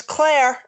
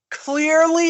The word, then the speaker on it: Clear: Thought it was Claire until so did I. Looked up the roster. Nobody's pronouncing that clearly enough. I thought it was Claire for the longest, and then I was like, oh, it's Clear.